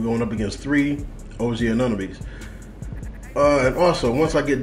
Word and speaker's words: Anunoby: OG Anunoby, that's how you say his name.